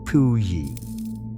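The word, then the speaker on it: Puyi: In 1912, the last emperor, a small boy named Pui, gave up the throne. The name is pronounced Pui.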